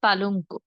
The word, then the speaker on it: পালঙ্ক: আবার শব্দের শেষে যুক্ত ব্যঞ্জন থাকলে সেখানেও আমরা শেষে ও এর মতো করে বলবো, যেমন ধরুন পালঙ্ক।